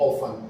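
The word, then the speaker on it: often: ही ऑफन, ऑफन यानी अक्सर, ठीक है, इसमें टी साइलेंट है।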